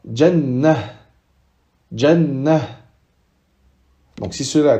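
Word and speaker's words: جنة: Si on s'arrête sur ce mot-là, on dira jannah.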